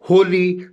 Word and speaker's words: wholly: And if I say who, WHO, W is silent. Whose, then whom, WHOM, whom. Whole, WHOLE, whole. And holy, WHOLLY, holy.